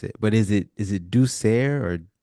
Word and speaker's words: douceur: I'm gonna try to pronounce it, but is it douceur or douceur? Douceur, yes, Douceur.